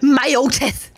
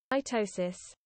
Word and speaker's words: mitosis: have an idea chat how do you pronounce myotest okay chat ignore the fact I spelled it wrong matoses hold on I need you guys to be able to hear this this is important all right can you pus mitosis yeah I mitosis mitosis mitosis mitosis mitosis mitosis mitosis